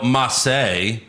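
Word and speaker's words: Ma.çé: Mace is now Massey. Yeah. It's spelled the same, but there's a period in between. And some like dots and circles and weird things.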